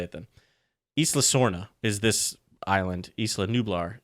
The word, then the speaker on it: Isla Sorna: how you pronounce isla i've always thought it was isla like island but without the nd and that's how john